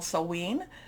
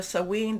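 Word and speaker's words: Samhain: also in what's called sewen there's different pronunciations i think i'm doing the scottish pronunciation of this but we can you know you know there's different celtic celtic type of pronunciations so sewing this is what a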